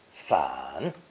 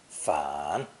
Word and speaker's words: 反: It's pronounced third tone, 反, 反.